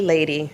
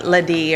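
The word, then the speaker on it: Ladee: Okay, it's actually Lady. It's pronounced Lady. And everybody calls me Ladie or Lade, but it's actually Lady, so it's fine.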